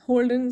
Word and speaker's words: Holden: Britannic article in which Holden's name can be pronounced as hold on so Holden wants to